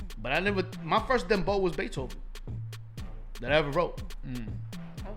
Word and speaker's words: Beethoven: Beethoven. Así como lo dicen los dominicanos, Beethoven. ¿Me entiendes? O los hispanos, whatever. Beethoven, con ese acento.